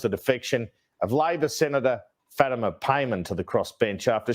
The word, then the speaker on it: Fatima: no what was that what was that pronunciation of Fatima is that how you actually pronounce it Fatima is normally how I would pronounce it but there are dialectical differences sometimes but I can't there's no way it's fattima no there's no way